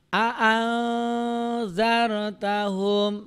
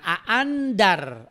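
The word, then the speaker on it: أأنذرتهم: Makanya bacanya adalah a'anzartahum, bukan a'andar atau bukan juga a'angdar ya.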